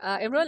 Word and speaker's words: Imrul: Imrul, I hope I am pronouncing your name correct.